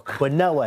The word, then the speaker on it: quinoa: there I've got a quinoa bowl or quoa if you say it properly um but he's spending